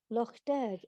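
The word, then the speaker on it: Lough Derg: that takes him to a holy island on loch derg is that the correct pronunciation anthony very good pronunciation yes a place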